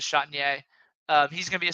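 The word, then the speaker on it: Chatagnier: Peyton Chatier, I think is how you pronounce it. So again, I think it's Chatinier, but it yeah. is Yeah. Chatier. Now that I heard you say it, it is Chatier.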